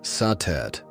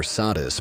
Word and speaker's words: Satet: Before the great names of Isis or Hatheror filled the temples of Egypt, there was satet pronounced satet or sadis by the Greeks.